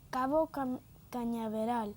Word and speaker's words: Cabo Cañaveral: En Spanish se dice Cabo Cañaveral.